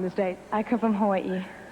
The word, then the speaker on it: Hawaii: it i call it hawaii well if you want to be very technical you would say hawaii because the hawaiians pronounce their w's as v's now it sounds a